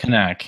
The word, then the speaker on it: Knack: But That's pronounced Knack too. Knack, yeah. There's a K there.